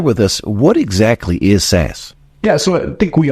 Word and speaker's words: SaaS: service modules, also known, is that pronounced as SaaS, sir? It is. Can you share with us what exactly is SaaS?